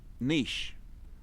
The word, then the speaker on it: niche: word and it's niche niche the c and the h and the e go together to make an s s sort of sound so it's niche so you guys are saying